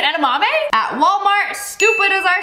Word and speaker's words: edamame: was edaman you mean edamame yeah edamami how do they know what he meant instantly edaman you mean edamame at Walmart stupid as